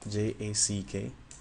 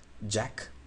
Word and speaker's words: Jack: sound is basically different when you say J you stop the air with your tongue in the middle before letting it out you stop in the